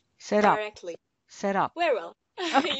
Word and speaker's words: Serap: the right pronunciation of your name? Serap. Serap.